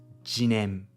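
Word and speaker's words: 自然: आमतौर पर, हम इसे शिज़ेन पढ़ते हैं। यह उच्चारण अक्सर प्रकृति को मनुष्य से अलग करने के लिए इस्तेमाल किया जाता है। यह प्रकृति को हमसे बाहर की कोई चीज़ मानता है। लेकिन वास्तव में इसे पढ़ने का एक और तरीका है, जिसे जिनेन कहते हैं और यही मूल उच्चारण है।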